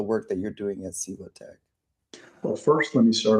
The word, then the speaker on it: SIVOTEC: I want you to tell us about, is it SIVOTEC?